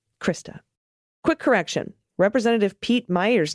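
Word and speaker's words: Meijer: you very much krista quick correction representative pete meyer's name is pronounced meyer or how you would pronounce meyer okay cool that's how i thought i did it at first and then i think i was saying major at the end this is relevant in his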